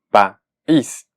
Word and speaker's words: país: Una manera de separarla en sílabas es que sea país. Y si lo hacemos así, se convierte entonces en una palabra aguda y obligatoriamente lleva la tilde. ¿En dónde? En la vocal de la última sílaba, es decir, en la I, país.